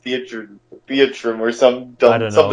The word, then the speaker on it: Theatrhythm: I thought it was always pronounced Theatrum or some dumb, I don't know. something dumb. I don't know if there's an actual pronunciation. I just say Theatrhythm like theater rhythm.